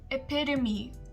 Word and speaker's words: epitome: It is epitome, not epitome, epitome, epitome.